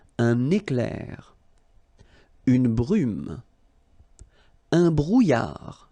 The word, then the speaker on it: brouillard: Un brouillard. Final D not pronounced.